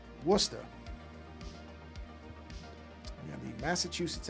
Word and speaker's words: Worcester: I know better than to say Warchester being that I am from the East Coast. I know that not to make that mistake. I don't know that I can do the pronunciation quite like a native because I'm not from Massachusetts, but yeah. See, but I know enough to I know enough to say that correctly. Worcester.